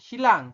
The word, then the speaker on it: 신랑: Mbak Sujin, Hago, dan Silang. Silang itu pengantin laki-laki ya, Rebun. Ada Silang dan Shinbu. Ya, ini tulisannya Shinrang, dibacanya Silang.